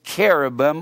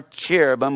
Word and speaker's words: cherubim: man and these are called cherubim or cherubim that's where we pronounce it c-h-e-r-a-b-i-m and these cherubim this